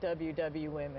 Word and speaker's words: WWWomen: Do you pronounce it Women or how do you say it? No, we actually do say it WW Women.